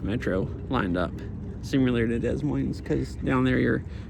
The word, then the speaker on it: Des Moines: Don't some people say instead of Des Moines, they say like Des Moines or something? I feel like maybe I've heard some local people call it that. I don't know I don't know if I'm pronouncing it right or not. Like they almost say Moines, like money or something.